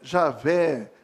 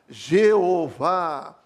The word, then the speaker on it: Javé: nosso aqui em português a pronúncia aproximada é e a velha aí tem várias pronúncias justamente porque não tinha as vogais então as pronúncias eram passadas por oralmente vamos falar assim e pode ser e haver javé jawa jeová então isso é que